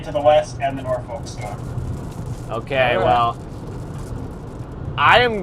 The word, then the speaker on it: Norfolk: People from Norfolk pronounce it. People from Norfolk pronounce it Norfolk. And that's how I grew up pronouncing it was Norfolk.